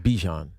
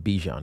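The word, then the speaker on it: Bijan: It's like Bjan. Everybody calls him Bjon Robinson.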